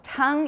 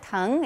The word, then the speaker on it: tongue: know is the tongue make sure everyone learns how to say it correctly in english because like i said it gets mixed up with tongue and tone which are totally different so tongue is like again in chinese tong tong the tongue tongue but open your mouth wider to get a different a slightly different vowel so instead of